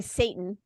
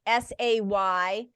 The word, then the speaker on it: seitan: spelled I'm not saying Satan P.S by the way it's it's spelled s-e-i-t-a-n and you pronounce it like s-a-y-t-a-n it's say tan okay so seitan is